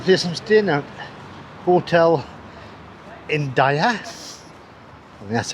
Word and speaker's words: Indaiá: And this is the place I'm staying at, Hotel India.